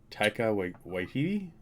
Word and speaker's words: Taika Waititi: I'm always going to butcher the pronunciation of this guy's name, but Taika Waititi, I think is how you're supposed to say it.